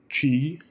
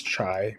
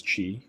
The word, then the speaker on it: qi: So a foundation also to TCM is understanding qi, pronounced chi. Some people will say it's chai, but it is qi, and you can pronounce